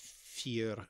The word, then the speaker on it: fear: It comes into Celtic languages, fear. I don't know if I'm pronouncing that correctly, but yeah, the one that's written on bathroom.